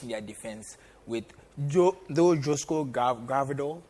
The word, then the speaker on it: Gvardiol: And I don't see enough quality in their defense with Josko Gvardiol. Is that how they pronounce it? Yeah. Gvardiol, thank you.